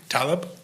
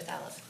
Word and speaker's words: Thaleb: It's Thaleb, Your Honor. Taleb? Thaleb with a Thaleb TH. with a TH.